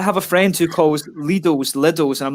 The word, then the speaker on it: Lidl: It's like the Germans call it Lidl. It is Lidl. Like, it annoys me so much. So I'm like, no, you learn to pronounce it in the native way.